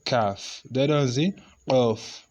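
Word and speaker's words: كاف: has a similar pronunciation with this, but this one is just flat, and you say like this, K-A-A-F. You say calf.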